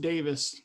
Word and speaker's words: Davis: It's pronounced Davis, so you did a good Oh, job.